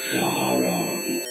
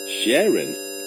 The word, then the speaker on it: Charon: Ma what's your name my name is Shon Sharon that's a girl's name not Sharon you dard it's Shon that's c h a r o n Shon now how you